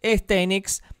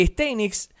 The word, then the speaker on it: Steinitz: tener en cuenta que éste knicks es éste knicks en realidad es la pronunciación poco más correcta era un jugador muy